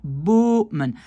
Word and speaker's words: bomen: Donc, je sépare ce mot en deux en faisant bomen. Alors que ici, si je sépare ce mot en deux, ça va être bommen.